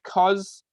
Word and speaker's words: cos: the cosine which is often abbreviated as cos which is basically the opposite of sine cosine but we just say cos and then the tangent